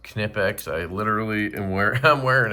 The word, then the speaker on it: Knipex: By the way, it is pronounced Knipex.